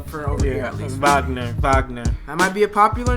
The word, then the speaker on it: Wagner: The W is like a V. Yeah, it's pronounced. It looks like Wagner, but they say Wagner.